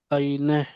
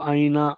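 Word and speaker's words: آینه: आईने आईने मतलब इसको हम लोग आईना आईना बोलते हैं हिंदी उर्दू में आईने ठीक है उसके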